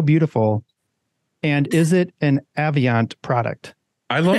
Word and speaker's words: Avient: Avient. See, there we go. We learned something right away that we say Avient. That's how you say it.